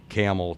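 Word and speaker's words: Campbell: It's spelled like the soup, but we don't say it. We and so the same drive from Okemos to Lansing Delta is the same drive from Camel to Lordstown.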